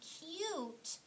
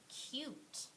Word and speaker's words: cute: saying its name so that bossy e is silent and the U is saying its name read the word one more time with me cute let's read this word